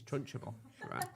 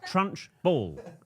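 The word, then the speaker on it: Trunchbull: Miss Trunchable. Trunch ball. You put in a third syllable in that now. You've always done it, and it's always annoyed me.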